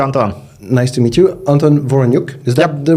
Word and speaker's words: Anton Voroniuk: Nice to meet you, Anton Voroniuk.